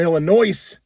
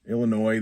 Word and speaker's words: Illinois: There's also here in Illinois, Illinois, the S is silent.